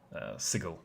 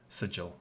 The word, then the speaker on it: Sigil: the city of doors sigil or sigil however you prefer to pronounce it um so what